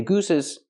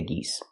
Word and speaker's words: geese: Don't say gooses, say geese.